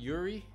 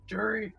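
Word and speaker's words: Juri: 2-1 Yuri. I'm pronouncing that right. Right, by the way? Yuri? Jury.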